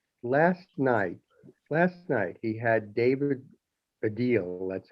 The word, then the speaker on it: Baddiel: Last night, he had David Baddiel, that's how his name's pronounced, a British Jewish comedian on.